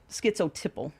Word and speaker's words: schizotypal: Schizotypal. Schizotype. So you type of have, it's tipple. Tipple. Just the way it's pronounced.